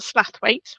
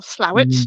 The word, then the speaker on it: Slaithwaite: So, of course we've got Slaithwaite or Slowit, depending on how you pronounce it. Difference between South and West Yorkshire there. Yeah. Although they do say Slowit on the trains if